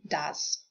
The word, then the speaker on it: does: And with the help of OE as in does.